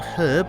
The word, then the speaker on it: herb: And this one is a herb, I think. Yes, a herb. I wonder how many people are going to be annoyed because I'm not pronouncing it in a different manner. I.e. without the H.